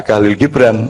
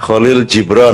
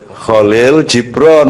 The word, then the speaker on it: Kahlil Gibran: Anakmu bukan anakmu lagi, seperti kata Kahlil Gibran, atau Kholil Jibron, kan? Ya, Kholil Jibron. Karena Anda membacanya dalam bahasa Inggris dan menerjemahkannya, akhirnya Anda menyebutnya Kahlil Gibran. Penutur bahasa Inggris suka membalikkan keadaan, misalnya dari Kholil menjadi Kahlil.